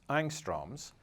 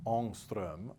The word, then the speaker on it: Ångström: Often for atoms we will use units that English speakers typically mispronounce as angstroms, and which correspond exactly to 1/10 of a nanometer. These units take the name of a Swedish scientist and should be pronounced Ångström or something like that.